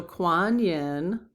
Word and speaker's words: Kuan Yin: Okay, so Kuan Yin Yep, that's how you pronounce it.